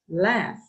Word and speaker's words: laugh: But you see this other verb, laugh, laugh. Okay, so it finishes with the letters GH, but the pronunciation is like F.